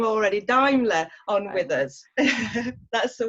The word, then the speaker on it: Daimler: We've got no other than Morgan Daimler. Sorry, I've said that wrong already. Daimler on with us. That's the one. Everyone mispronounces it, so you're fine.